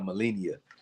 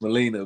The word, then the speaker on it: Molina: I I be saying Melennia. Molina. It's Molina.